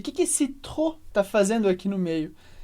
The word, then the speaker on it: trop: Você percebeu que a palavra trop se escreve com P, mas a gente não pronuncia. Por quê? Como regra geral no francês, a gente não pronuncia o E no final de palavras e a gente não